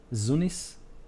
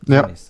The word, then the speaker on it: Zunis: In parallel to that, we have Tunis and I pronounce it with Z, Zunis. Yeah. Zunis.